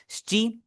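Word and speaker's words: しち: शी में आप देख रहे होंगे यहाँ पर इसका ई जो है मैंने साइलेंट पढ़ा है, क्यों साइलेंट पढ़ा है, ये इसकी एक रूलिंग होती है जापानीज में कि आपके कभी कभार जो बीच वाला ई और ऊ होता है वो साइलेंट हो जाता है। इसे हम आगे जाके डिटेल में करेंगे, ठीक है। अभी बस आपने याद रखना है शी, इसे हमने पढ़ना है, इसे हमने शीची नहीं पढ़ना।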